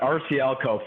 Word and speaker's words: RCLCO: That's rare, but RCLCO, formerly Robert Charles Lesser and Company, and the acronym came the way we went going forward, obviously. Okay, so here it goes. Completely overhauling and revitalizing RCLCO's real estate advisors' brand exposure and client engagement efforts.